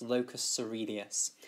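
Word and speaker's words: locus coeruleus: the locus ceruleus, and I'm afraid it's spelt rather strangely. It's spelt locus ceruleus. It's got loads of, it's a very strange spelling, but it is pronounced locus ceruleus.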